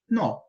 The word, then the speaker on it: nó: a gente tem no Veja a diferença de pronúncia das duas palavras na primeira eu pronuncio com menos intensidade no já na segunda devido ao acento agudo que é esse tracinho aqui para cima pra direita eu pronuncio com mais intensidade Então passa a ser nó algumas pessoas cometem esse